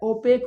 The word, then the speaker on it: opaque: इसका अंग्रेजी थोड़ा हट के होता है, ओपेक होता है, OPAQUE, ओपेक।